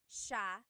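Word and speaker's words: siya: And then just a note about pronunciation. It's sha sha. The s i y combination makes the sh sound in tagal.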